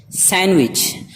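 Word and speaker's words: sandwich: सैंडविच, सैंडविच नहीं, सैंडविच, सैंडविच। Wednesday, Wednesday, इसमें भी डी खामोश है, साइलेंट है, इसे नहीं पढ़ेंगे।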